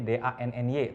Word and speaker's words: Danny: Denny., Denny D-A-N-N-Y, tapi bacanya pakai Denny bukan Dani. Danny. Karena Dani adalah miliknya Ahmad.